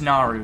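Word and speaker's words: Naru: us when she could just naaru not noro sorry i don't mean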